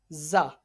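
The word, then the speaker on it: ز: Za is a letter of Safiria. So this letter is being read by stretching the voice for 1 second, and this letter, while pronouncing, while reading this letter, a visual like high pitched sound is created. Okay, got it? And this letter is pronounced from the tip of tongue.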